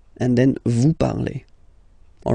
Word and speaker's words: parlez: Let's see now for vous, vous parlez, okay? Remember, a Z, when you combine them together, you get the sound E, vous parlez, all right?